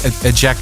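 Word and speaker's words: Ejeca: I suppose the Dutch would have a different J in it, but Ejeka is the Irish pronunciation.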